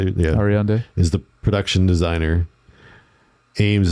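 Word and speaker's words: Ariadne: Ariande, is that how you say it? Yeah. Ariande is the production designer.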